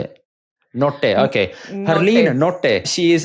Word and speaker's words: Nottay: No, that's Nottay, correct. I thought so. Good job. What's the Desi way of saying your surname? Nottay. Like, how do your parents say it? Nottay, okay.